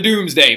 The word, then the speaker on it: Domesday: had written called the Doomsday book I know it's spelt Domesday book but it's actually pronounced doomsday book so what the Doomsday